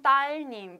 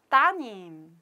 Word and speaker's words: 따님: But change, something has changed because we deleted 리을. So it must be here. 리을, 리을, 아들님, 딸님. But it's difficult to pronounce. So we just omit 리을. So 아드님, 따님.